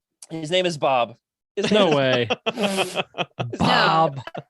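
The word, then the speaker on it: B'aahb: Bob in the Legends Look Back Discord if you would like to take a look at him.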